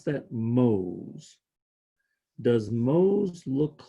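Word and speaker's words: mhos: unit is M h o s and you pronounce that Mo's does most look like the word home spelled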